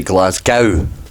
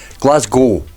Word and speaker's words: Glasgow: Or for the folks across the pond, you say Glasgow, don't you? Which I never understood, and then I realised it's because the word cow, and Americans think that we should just pronounce it gow. Glasgow, guys. Get rid of that W.